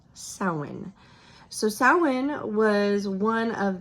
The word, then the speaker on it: Samhain: of it because all of us Americans probably pronounce it Sam Hine cuz that's how it's spelled but apparently is pronounced sin so sin was one of the four fire